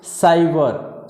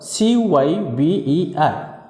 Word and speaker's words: cyber: Same as cyber, C-Y-B-E-R. Same thing, C is followed by here Y. So the pronunciation of C is cyber, cyber.